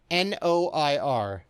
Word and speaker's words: noir: Is it wonk? Is it wonk? N-O-I-R, noir. Is it wonk? You sure it's not wonk? It's not wonk. So, when you ever hear somebody talk about film noir, yes, literally means black film, but it has that.